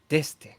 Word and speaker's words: D'Este: as always and with me today is Dy how are you good how are you I had to do that just because we just discussed this um